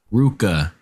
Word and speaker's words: RVCA: What's the correct way to say that? Ruka. It's Ruka, everyone. Of opposites. I just learned it's Ruka. Yeah. Not RVCA.